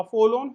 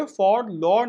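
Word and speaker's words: forlorn: अ फॉलोन hope का मतलब क्या होता है, इसमें एक बात याद रखना, आर साइलेंट है दोनों के दोनों, तो ये फॉर लॉर्न नहीं है, फॉलोन है, ठीक है।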